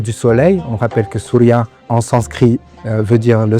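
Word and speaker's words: Συρία: En effet, la Syrie en grec ancien se prononce souria.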